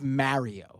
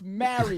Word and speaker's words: Mario: His name is Mario.